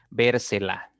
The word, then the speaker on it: vérsela: se la debo ver donde está la mayor fuerza obviamente está en la tercera sílaba contando de derecha a izquierda y como esta palabra tiene tres sílabas la mayor fuerza está en la tercera va a ser una palabra esdrújula y automáticamente debo colocar